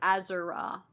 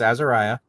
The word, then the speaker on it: Azariah: Azara. Azara. Okay. No, it's Azariah. You said it right.